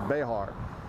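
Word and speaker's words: Béxar: the Battle of Béjar, B-E-X-A-R, but pronounced Béjar.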